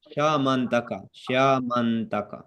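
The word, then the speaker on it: Syamantaka: How do you pronounce it? Shayamanat. Shamantaka.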